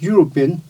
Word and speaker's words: European: when we talk about european the letter here is vowel but this is silent so we say european u comes with y sound right u starts with y sound european so we write